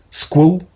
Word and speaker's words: SQL: I have no idea why it's pronounced SQL, SQL, SQL. Okay, kind of. Squall is another way you could pronounce it, I guess.